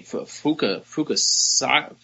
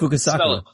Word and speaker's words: Fukasaku: Fukasaka. I'm gonna fuck it all up if I even say it. Fukasakaku? I think it's how do you spell it? Fukasaku.